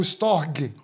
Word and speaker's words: storge: Cara, uma outra palavra que a gente tem aqui é o storge, ou storg. Se for levar pela pronúncia mesmo, storg.